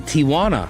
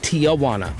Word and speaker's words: Tijuana: And then Tijuana, not Tijana.